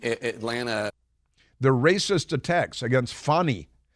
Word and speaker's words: Fani: The racist attacks against Fani. You can't pronounce it Fanny, it's Fani because it's a Swahili name.